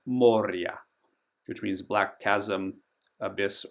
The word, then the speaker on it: Moria: Moria is actually pronounced Moria.